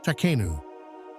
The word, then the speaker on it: Takhenu: the term refers to an ancient Egyptian word pronounced takanu the takanu at that